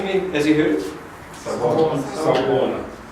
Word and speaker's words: Sawubona: Sawubona. Okay, so someone said it without the A at the end. Okay, so you can actually leave that off.